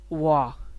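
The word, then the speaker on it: 我: पहले पहले है जी वाह। ठीक है, ये होगा प्रोनाउंसिएशन हम जो करेंगे, और ये मतलब कि चाइनीज़ में जो होगा वाह वाह वाह।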